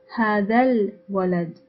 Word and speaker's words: هذا الولد: When we precede it with hada, we unpronounce the alif and connect the letter after the alif with the first word. So we say هذا الولد, هذا الولد, as if the lam of al-walad is the final letter of hada.